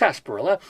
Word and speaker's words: sarsaparilla: me for this but sarsparilla which is pronounced s perla the dried roots of